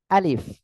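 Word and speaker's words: ألف: নাই এটা হলো আলিফ এই অক্ষরটি আমরা যখন উচ্চারণ করব কিভাবে উচ্চারণ করব জানেন প্রথমে আ একটু ধাক্কা হবে আ তারপরে লি তারপরে শেষে বাংলায় যে ফ আছে ফ এর মতো তবে আমাদের মনে রাখতে হবে জিহ্বার জিহ্বা না নিচের ঠোঁটের পেট এই যে নিচের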